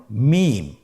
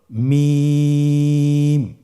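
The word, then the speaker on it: ميم: মিম। হরফটির নাম কি? মিম। মিম হরফটি উচ্চারণের ক্ষেত্রে অবশ্যই বারিক হবে, পাতলা হবে এবং তিন আলিফ টেনে উচ্চারণ করতে হবে। আমার সাথে আরেকবার চেষ্টা করুন। মিম আবার বলুন মিম হরফটির উচ্চারণ স্থান দুই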